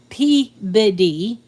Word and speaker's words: Peabody: So Peabody is pronounced Peabody, like biddy, and some people call it the biddy, and it's spelled Peabody.